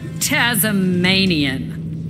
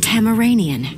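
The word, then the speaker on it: Tamaranean: need to establish boundaries so you're tasmanian it is pronounced tamiranian timma let's get this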